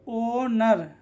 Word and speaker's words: honour: यहाँ पर एच आ रहा है ना, ओ के पहले एच आ रहा है तो एच क्या होगा? साइलेंट होगा। तो एच साइलेंट, तो ओनर।